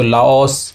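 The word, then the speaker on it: Laos: इसको हम बोल देते हैं लाओस, लेकिन इसको प्रोनाउंस किया जाता है लाओ, ठीक है, लाओ इस तरीके से।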